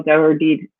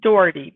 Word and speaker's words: Dougherty: So I could not be more excited to have Dougherty. Did I say that right, Dougherty? It's close enough. Okay. The family pronounces it Dougherty, but Dougherty.